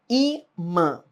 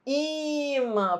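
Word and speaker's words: ímã: Imã, não é imã, é imã, entendeu? Imã.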